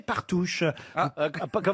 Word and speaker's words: Partouche: Ah bah oui, parce qu'en plus, vous avez gagné, c'est plutôt chouette, un week-end chez Partouche. Comment vous avez prononcé?